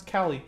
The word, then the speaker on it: Kali: and print out and pronounce Cali as in California so there you go